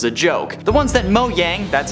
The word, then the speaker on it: Mojang: were meant as a joke the ones that mo yang that's how you say it doesn't want you